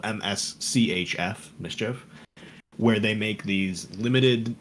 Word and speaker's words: MSCHF: shoes company that he's done called looks like mischief it looks like it's it's spelled mschf mischief where they make these limited run versions of